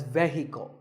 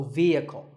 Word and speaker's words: vehicle: the next word is vehicle it's often pronounced wrongly as vehicle but the e is a long vowel and the H is silent so vehicle number eight is this